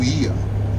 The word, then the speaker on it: Oia: One of them is the default O and I combined together, that's pronounced as E. But no matter how you call it, Ia or Oia, the views are there.